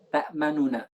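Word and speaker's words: تأمنا: Tapi dibaca dengan suara yang pelan kemudian cepat. Jadi gimana cara bacanya? Qalu ya abana ma laka la ta'manuna ala Yusuf. Ma laka la ta'manuna ala Yusuf. Cepat. Ta'manuna dibaca cepat.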